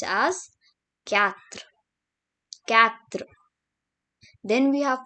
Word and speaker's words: quatre: And here we have 4, which is pronounced as quatre.